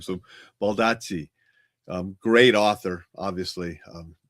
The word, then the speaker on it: Baldacci: Baldacci. Baldacci. Baldacci. So, that's how David's last name is pronounced. And I always sometimes butcher that name. So, Baldacci.